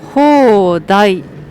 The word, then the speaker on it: 放題: これね、放題と読みます、食べ放題ってどういう意味ですか？